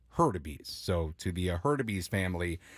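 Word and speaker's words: Hurtubise: u b i s e and it is herbes herbes so to the heres family I'm sorry for not pronouncing it right the first time I've got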